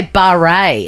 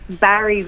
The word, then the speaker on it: Barry's: So is that how you pronounce it? I've always seen it around Barre, and I say Barre. Am I a bit up myself? No. Barry's with a Y.